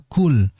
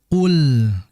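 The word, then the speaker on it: قُلْ: keluar KL ya Sehingga Jangan dibaca KL yang betul dengan menghilangkan udara itu Qul ya dibaca Qul Ee tidak ada udara atau tidak ada Hames di situ sebab huruf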